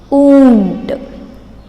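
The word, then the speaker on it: ऊँट: Now we will pronounce this in Hindi. Oont.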